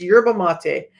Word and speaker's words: yerba mate: wrong because I heard somebody else say it wrong but it's and I looked it up you guys I'm really good this is part of my autism I will look up words for the pronunciation before I come on because I don't want to mispronounce words but it's yurba mate um so a normal